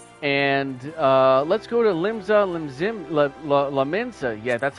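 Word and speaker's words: Limsa Lominsa: going into war and uh let's go to limbs la mensa yeah that's how you say it don't question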